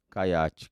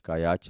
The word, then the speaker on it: Kayat: Caiate. Caiate é K-A-Y-A-T. O T é mudo.